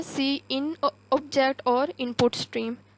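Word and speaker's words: cin: इट is pronounced as सी इन an extraction operator use for this purpose.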